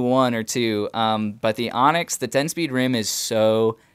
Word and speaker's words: Onyx: And yes, it's pronounced Onyx. It's a Greek word.